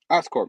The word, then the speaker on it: Oscorp: Oscorp, yeah, I said it right.